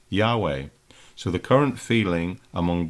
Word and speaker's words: Yahweh: produced the term, the name of God is Jehovah, which of course is fine, but then many have decided more recently it was actually pronounced Yahweh. So the current feeling among Bible experts today is it's Yahweh because the letters that are chosen phonetically represent